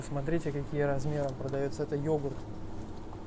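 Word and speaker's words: yoğurt: Это йогурт. Доял, йогурт. Г у них даже не произносится это.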